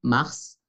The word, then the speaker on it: mars: Palabra que nos hace recordar que ER es E, février, février, mars, mars, pronunciamos la S, pues es una excepción, mars, como la planet mars,